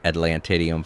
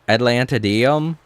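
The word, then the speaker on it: Atlantideum: So, I have my one settlement working on discovering Atlantidium for me. That's a fun word to say. Atlantidium. A lot of people will pronounce it like Atlantadium or I don't know.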